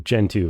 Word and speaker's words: Gentoo: Honestly, it rhymes with you. Gen two rhymes with you.